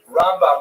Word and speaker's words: Rambam: Rambam is pronounced with the emphasis on the first syllable, Ramb. And Ramban is pronounced with the emphasis on the second syllable, Rambam and Ramban.